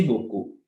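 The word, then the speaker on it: beaucoup: अब यहाँ पे आओ बोकू, BEAU, EAU इज an expression, सो इसका मतलब है ओ, तो हम क्या बोलेंगे बो, बो, ठीक है, कू, हाउ इट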